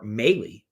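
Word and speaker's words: Mahle: overall Red's Braves um Tyler Molly or melee as some pronounce it um going up against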